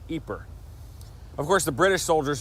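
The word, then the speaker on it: Ieper: you're more likely to find it spelled i-e-p-e-r pronounced eeper of course the British soldiers who fought here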